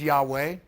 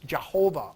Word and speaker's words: Yahweh: for over 2,000 years some thought the Lost pronunciation was Jehovah or Yahweh but Seth traces the name to the late Bronze Age and argues that it was expressed as who he it's in the document